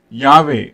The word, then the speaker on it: Yahweh: That is, by scholarly convention pronounced Yahweh.